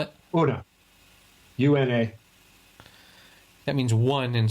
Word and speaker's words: Una: How do you spell it? Una.